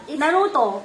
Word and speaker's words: Naruto: Piece lang tawag doon Yeah those are the Naruto Naruto no hindi I know Naruto pala Naruto pala yung pagpronounce non hindi pala nar Naruto how how